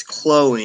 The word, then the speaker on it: Chloe: I said Chloe. You keep spelling her name wrong. It's Chloe, and it doesn't matter.